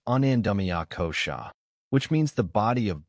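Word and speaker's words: anandamaya kosha: Deeper still is anandaya kosha pronounced anandamia kosha which means the body of bliss or deep inner joy.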